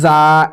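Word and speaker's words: ز: পড়ি কিন্তু এটা জ ন নয় এটা হচ্ছে যা এভাবে উচ্চারণটি হবে সিন এটি হচ্ছে ছোট সিন সামান্য পরিমাণ সিন আর এটি হচ্ছে বড়শিন আমি গোল দিয়ে দাগ দিয়ে দিচ্ছি।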